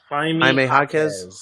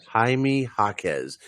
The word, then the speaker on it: Jaime Jaquez: Jaime Jaquez. How do you pronounce his name? Jaquez. Jaime Jaquez.